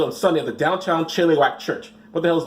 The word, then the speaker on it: Chilliwack: Is that how you pronounce Chilliwack? It's Chilliwack.